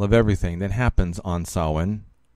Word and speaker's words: Samhain: Fortunately, Sheila did not go into full detail of everything that happens on Samhain, spelled Samhain, but pronounced Samhain.